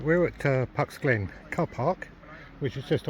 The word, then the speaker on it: Puck's Glen: Yeah, I have to be very careful with the way I pronounce that. It is, as you can see, it's without the F, it's with the P. Puck's Glen.